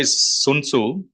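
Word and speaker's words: Sun Tzu: it's you know it's authored by sunu some people pronounced it as suu also he's a Chinese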